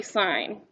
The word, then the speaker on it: sine: sine cos and tan if you ever call this sin people will laugh at you so we say sign okay make sense we